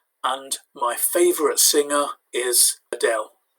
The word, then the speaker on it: Adele: favorite singer is adele notice you don't need to break it into the spanish-style pronunciation of adelaide because when you've got a name of something often if it's taken from another language like this is taken from english then you can pronounce it the english way tambien also i play